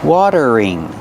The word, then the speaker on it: watering: a watering can pronunciation watering the t is a fast d water water then use a voice R together watering watering this is